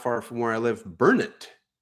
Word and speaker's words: Burnet: And then not far from where I live, Burnet, B-U-R-N-E-T, Burnet, accent on the burr.